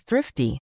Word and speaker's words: thrifty: Moving on to the third phrase, which is thrifty. This is a really great word to practice your English pronunciation, specifically that tricky th and our combination.